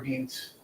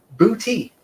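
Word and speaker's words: Boutte: It is not butt or butte or anything like that. Though it is booty.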